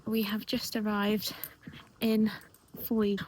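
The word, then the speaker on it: Fowey: Today is Thursday and we have just arrived in foy. What does foy remind rhyme with? Joy as it says.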